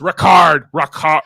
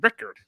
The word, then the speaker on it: Ricard: don't know but it's it's way more guttural than i've been pronouncing it like i pronounced it as rickard i i just find